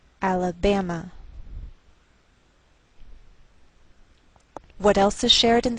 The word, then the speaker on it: Alabama: by a lowered Mark so the greater stress is on this third syllable we say Alabama Alabama what else is shared